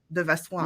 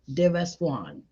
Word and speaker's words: Vassoigne: deas so think Swan you know the the bird deas Swan that's it okay deas Swan that's it all right